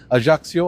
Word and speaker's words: Ajaccio: Ajaccio, I think that's how you say it, like they say here.